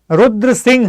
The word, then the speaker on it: Rudra Simha: wrote the simha third the Indian pronunciation will be rudra Singh third okay third guys do